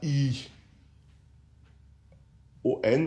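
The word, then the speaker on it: αἰών: Le premier c'est ion qu'on peut écrire en français A i O N ou un néon. Bon, écrivons-le comme il se prononce ion qui veut dire un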